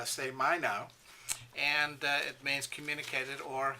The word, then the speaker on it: σημαίνω: is a great words uh pronounced say my now and it means communicated